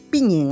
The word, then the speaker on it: Piñén: Piñén, así se pronuncia.